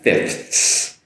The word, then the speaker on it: fifths: Now I get that, making that TH sound. I'm also making the S that follows it.